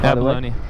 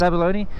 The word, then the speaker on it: abalone: rare or abalone are how do you say that Maddaloni it's abalone yeah they'll find like